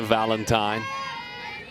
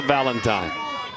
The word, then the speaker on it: Valentine: She just said last name pronounced like the holiday.